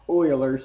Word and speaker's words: Euler's: as Euler's formula looks like Euler's but it's pronounced Euler's formula that formula is V minus E Plus